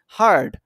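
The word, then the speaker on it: heard: but sounds like bird কিন্তু বার্ডের মত sound হয় মানে এটা উচ্চারণটা হয় বার্ড আমরা যেরকম বলি সেরকম মানে হলো হার্ড নট হেয়ারড এটা হার্ড এইযে বার্ডের মত সাউন্ড বার্ড হার্ড ঠিক আছে আশা করি এটা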